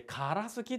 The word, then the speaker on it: からすき: で読めるかな 1 文字でからすきって発音しますこれ鎌倉時代と